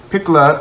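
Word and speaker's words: Pecola: Piccola sounds like piccola in Italian, which means little.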